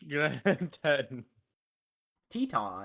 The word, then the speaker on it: Teton: Pronounce Grand Teton? Teton.